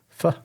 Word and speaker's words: pho: He said, have you ever heard of a beef pho? Is that how you pronounce it? Yeah. Pho.